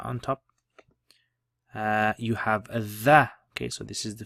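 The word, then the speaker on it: ظ: You have a dha. Okay, so this is the first time we've seen this letter. Dha, if you remember, is like the lisp, trying to pronounce Z with the lisp.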